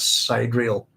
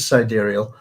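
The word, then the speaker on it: sidereal: excuse me um cerial that's one of those words that I used to mispronounce all the time as cidal especially it's it's a word that turns up in um science fiction but it is siderial and it comes from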